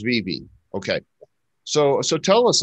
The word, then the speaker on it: VeVe: i pronounce it right is it vivi or is it vive dvd yeah right on it is vb okay so so tell